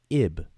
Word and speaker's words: ib: stands for the word ib. Some people may pronounce it yib with a Y.